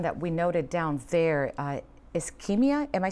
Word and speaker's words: Ischemia: Ischemia, am I saying it correctly, gentlemen?